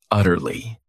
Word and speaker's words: utterly: Utterly. This word has 3 syllables, and the stress is on that first syllable.